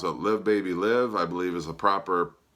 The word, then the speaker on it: Live Baby Live: live album, and I don't know how you pronounce it, Live Baby Live, I believe is the proper pronunciation. However, since it is a live album, you could also pronounce it Live Baby Live, I suppose.